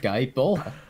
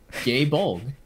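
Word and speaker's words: Gáe Bolg: Because of my pronunciation of Guy Bola. Or, as they pronounce it in Japanese, Gay Bolg.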